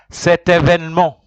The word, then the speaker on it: cet événement: Cet événement.